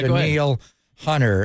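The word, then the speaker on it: Danielle Hunter: want to stay on Den Neil and it's pronounced Den Neil Hunter and we've seen him obviously the sack last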